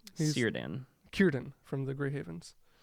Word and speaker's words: Círdan: Círdan. Círdan from the Grey Havens. Círdan of the Grey Havens. Círdan, brother. Right, it's a C. C Which is not pronounced a real with a hard K in Middle-earth.